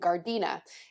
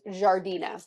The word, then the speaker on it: Giardiniera: I was not saying it right before. I was saying Gardena. It's Giardina. It's pronounced, that's the word right there that I'm trying to say.